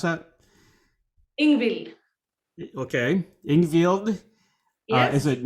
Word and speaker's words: Ingvild: Can you pronounce that? Ingvild.